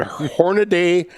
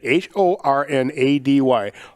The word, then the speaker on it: Hornady: the top same as hornady uh there is one a in hornady and it is not in front of the y i have heard hornaday so much over the